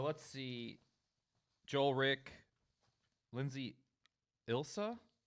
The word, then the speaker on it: Ilsa: Joel, Rick, Lindsay, Ilsa. There's no silent letters in Ilsa, right? It's just Ilsa.